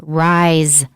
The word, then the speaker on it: rise: it's of the word rise r-i-s-e first of all the s is pronounced like z booster rice it's ris